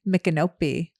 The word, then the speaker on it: Micanopy: Micanopy.